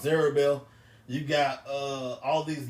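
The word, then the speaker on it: Zerubbabel: Hava you got uh uh Zer which is pronounced zerbel you got uh all these names and stuff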